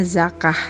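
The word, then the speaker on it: زكاة: syariat Islam definisi zakat kata zakat berasal dari bahasa Arab atau dibacanya zakah yang berarti bersih Suci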